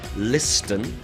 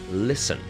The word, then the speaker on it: listen: is the silent letter of course it's the T we don't say listen we say listen listen and type so